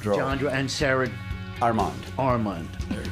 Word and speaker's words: Johndrow: Am I pronouncing that right? Johndrow.